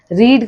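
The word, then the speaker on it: read: रीड का क्या? रेड। Third form वो स्पेलिंग सेम रहती है बट प्रोनोसिएशन चेंज हो जाता है।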